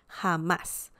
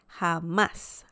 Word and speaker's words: jamás: of the letter a hamas without the accent mark this word will sound something like hamas hamas but we want the intonation right here so that's why we have an accent mark and the pronunciation is hamas ha okay perfect and